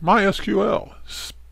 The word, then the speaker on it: MySQL: my website alright so MySQL it's pronounced my SQL it's an open source